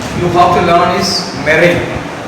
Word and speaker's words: meringue: The next important term you have to learn is meringue. The spelling is M-E-R-I-N-G-U-E, but still we pronounce it as meringue.